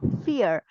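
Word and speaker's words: vier: in English fear okay the same sound here fear because V takes the sound of fou right I told you we takes the sound of fou so I read it as fear fear is four and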